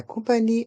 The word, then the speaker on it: compagnie: horaires les horaires la compagnie aérienne la compnie a et rien la lettre G de compagnie est muette et le E à la fin du mot compagnie et du mot aérienne sont mués la compagnie aérienne